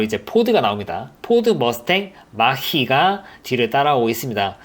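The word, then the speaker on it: Mach-E: 포드가 나옵니다 포드 머스탱 마 희가 뒤를 따라오고 있습니다 이걸 발음을 마키 라고 하던데 참 발음이 좀 어려운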